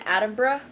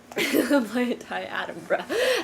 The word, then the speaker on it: Attenborough: David Attenborough? Attenborough, right? It rhymes with Edinburgh.